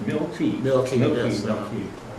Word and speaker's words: Milkey: Yeah, It's pronounced Milky.